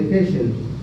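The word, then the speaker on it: Heschl: en los giros de Hesel. auditiva primaria la auditiva primaria en el giro temporal superior en los giros transversos de Hel. Así se escribe H e SHL Hel.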